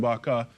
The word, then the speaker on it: Barcant: And now I go across to my segment here, because with me this morning is Jonathan Barcant. He is the co-founder of the I Am movement. Yeah. That's how you pronounce it?